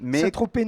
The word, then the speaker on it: Saint-Tropez: Mais Saint-Tropez non plus.